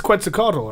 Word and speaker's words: Quetzalcoatl: It's Quetzalcoatl, right? Yes. Yeah. Okay, I didn't know how to pronounce that.